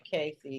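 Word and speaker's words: Cassie: Is that how you pronounce Cassey Ventura or whatever? Yeah, Cassey.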